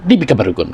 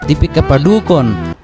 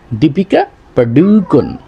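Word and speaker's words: Deepika Padukone: আরেকটা আছে দীপিকা পারুক আমরা বলে ফেলাই সহজে দীপিকা পারুকন কোন টান টুন নাই কোন ইয়ে নাই আবার সঠিক উচ্চারণটা নাই এটা মূলত উচ্চারণ হবে দীপিকা পাডুকন দীপিকা পাডুকন তাহলে উদাহরণের মধ্যে যে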